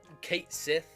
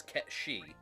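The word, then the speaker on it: Cait Sith: okay so i know it says kate sith but it's gaelic and the pronunciation is kept she i'm changing cat moog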